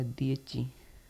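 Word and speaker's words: dieci: दिय च दिए च इसका उच्चारण होगा दची 10 का मतलब दि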